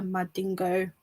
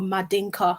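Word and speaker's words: Mandinka: understand what does it mean to be a madingo woman or madinka woman as as as it's actually properly pronounced um and where are my roots from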